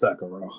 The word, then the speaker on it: Sekiro: And yeah, as far as Sekiro, I keep saying Sekiro, but I hear people like pronounce it that way. What is it, Sekiro or Sekiro? It's Sekiro.